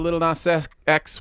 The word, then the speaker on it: Lil Nas X: We're going to talk about Lil Nas X with Holiday, and I unfortunately pronounced the entire little. It's probably not that. Lil. It's just Lil. Lil Nas X.